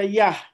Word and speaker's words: Yah: Nah, ini Yud-He, Yud dengan He, ini dia berdiri sendiri. Nah, ini dibaca Yah.